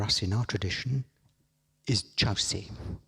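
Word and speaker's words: Kyaukse: very important for us in our tradition is chow si it's it's spelt kyokusei but pronounced chow se and chaos is what i'll call it all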